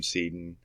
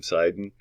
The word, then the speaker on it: Seiden: according to uh sam sedan uh seiden i've been pronouncing his name wrong all this time didn't know that it's sam sidon and uh this is